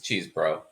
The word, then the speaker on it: Chesebro: His name's Chesebro. He's from Wisconsin. His name is Chesebro. I don't care how he pronounces it. If you're from Wisconsin, you have that name, it's Chesebro.